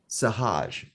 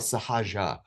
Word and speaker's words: sahaja: term sahadish sahaj sometimes it's called sahaja s a h a j and then you know you put the a at the end depending on how you pronounce it Sahage is about